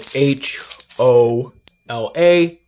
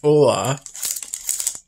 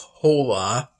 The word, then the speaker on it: hola: um the spanish word for hello is spelled h o l a but pronounced hola it's not pronounced hola is pronounced hola these aren't the conventional cookies